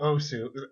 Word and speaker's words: osu: Well, I mean, we're talking about Osu. I know it's supposed to be pronounced us, but no, Osu. It's okay.